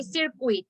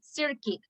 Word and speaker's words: circuit: You don't say circuit, you pronounce it circuit. The circuit of a phishing attack. It's like a biscuit, it's not biscuit, it's biscuit.